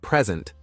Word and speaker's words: present: than others for example in the word present stressing the first syllable gives you a noun a gift while stressing the second syllable makes it a verb to give something misplacing stress can make